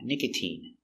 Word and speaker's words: nicotine: But you have words like nicotine where the sound is E, a long E sound, nicotine.